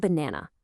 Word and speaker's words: banana: We spell it with three A's. But listen to how we say it. Banana. That first a and the last A sound totally different from the one in the middle.